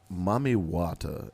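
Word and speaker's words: Mami Wata: Mommy Wata is a mermaid that was worshipped and talked about 10,000 years ago in Ghana.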